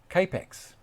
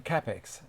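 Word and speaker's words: Kapex: The Germans call it a capex. That's how the rules for pronouncing it are in Germany.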